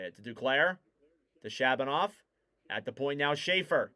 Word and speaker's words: Shabanov: To Shabanov.